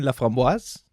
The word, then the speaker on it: Laframboise: We are here with Corinne Laframboise.